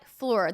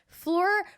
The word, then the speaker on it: Phlur: about good clean fun try floor that's spelled pH L you are floor first you get to